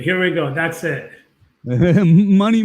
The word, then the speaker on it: Mani: Mani, pronounced money, but it's spelled M-A-N-I for those of you on the podcast that can't see him, is with a band called Race Trader.